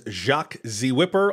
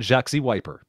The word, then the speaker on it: Whipper: think I you did you included the H which is the most important thing it's not jaxy wiper yeah yeah you why